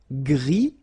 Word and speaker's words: gris: Gris, don't pronounce the S, but then for the feminine form, grise. Remember? Grise. Alright? So when you add this E, basically it gives you the pronunciation or the possibility to pronounce the previous letter here. It's Z. Grise. Alright? So gris, masculine form, feminine form, grise.